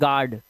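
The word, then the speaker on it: guard: यू को silent करते हैं। इसे पढ़ते हैं गार्ड।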